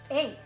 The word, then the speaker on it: eh: You have to learn how to say the word a properly. Everybody always puts emphasis on a and it shouldn't be that. That should just be a easy flow with the sentence.